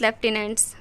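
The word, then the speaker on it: lieutenant: Teachers, Lord लेफ्टिनेंट Lord's लेफ्टिनेंट्स। इसकी spelling याद रखिएगा, ये ल्यूटिनेंट होता है पर पढ़ते इसे लेफ्टिनेंट है।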